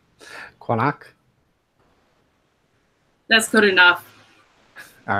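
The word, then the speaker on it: Qaanaaq: So it's pronounced Kranach. So it's like the Q is like a K, but a little further back in the throat. At least that's how I think it's pronounced, because it's Greenlandic.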